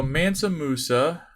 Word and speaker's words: Mansa Musa: m-u-s-a what do they say about you so mansa musa was the rule of the kingdom of the